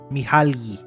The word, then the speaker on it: Mihaly: How do you pronounce this person's name? Mihaly.